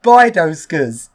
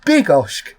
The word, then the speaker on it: Bydgoszcz: I saw the name, I thought it was pronounced Bydgoszcz. That's actually completely wrong, because it's actually pronounced Bydgoszcz.